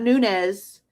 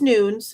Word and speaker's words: Nunez: So it's Noons. It's not Nunez. It's Noons.